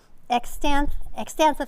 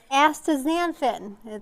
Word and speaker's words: astaxanthin: So you're getting some nice minerals there, selenium, omega-3 fatty acids, and the antioxidant extanthophth. I can never say it right. Astaxanthin, that's what I wanted to say.